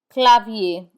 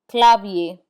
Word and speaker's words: clavier: We do not pronounce the r in i e r. Instead it has the a sound. Papier. Papier which means paper. Clavier which means keyboard. Clavier.